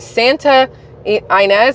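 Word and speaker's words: Santa Ynez: his week-long vacation in Santa inz I think it's how you say it y n EZ in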